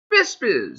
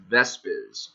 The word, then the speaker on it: Vesp: have an I sound so visp should be pronounced visp right well no according to eth V skyber it's vesp doesn't look like that isn't written like that but that's what it actually is so that is how